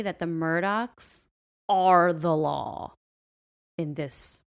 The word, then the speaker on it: Murdaugh: Murdaugh, it's actually pronounced Murdaugh, like with a K on the end.